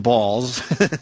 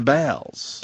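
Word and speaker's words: Baals: new building citizen Square the real Harry balls who indeed pronounced his name balls course right here was Fort Wayne's mayor from 1934 through 47 and again through 51 uh to 54 his descendants changed the pronun ation to bals BS City officials initially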